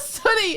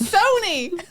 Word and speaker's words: Sony: It's not Sunny. It's Sony.